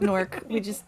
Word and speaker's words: Newark: How locals say Newark? It's called Newark. We get rid of half the word. Just crunch it.